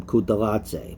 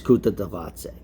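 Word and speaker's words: Kutateladze: is magula versus guram which i've been calling kuttalatse but it's kuta davaoze this fight is i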